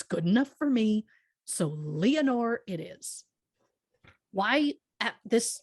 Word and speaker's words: Leonore: right out the gate while some simply call her lenore i'm going to pronounce it leonore as it has been said in the movie hollywoodland and by lois lane herself phyllis coats and if